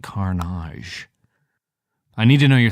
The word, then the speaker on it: Karnage: not a pirate and definitely pronounce it Carnage.